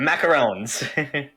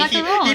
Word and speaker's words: macaron: macaron. He beats me with the stick if I say it wrong. Macaroon is the coconut thing, and it has 2 O's. Yeah. Macaron has 1.